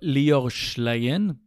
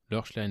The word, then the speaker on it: Lior Schlein: ok, et le présentateur Lior Schlein, je crois qu'on prononce comme ça, Lior Schlein, le présentateur de Vedette